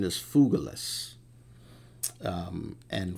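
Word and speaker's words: Phygelus: particular figures uh and the pronoun the correct pronunciation is fugilis um and fugilus you could say feiglous if you want um his name means uh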